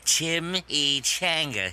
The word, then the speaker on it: chimichanga: Oh, well, it's pronounced chimichanga.